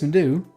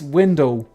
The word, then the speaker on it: Windu: Well, I heard people say like Mace Window. That's not right.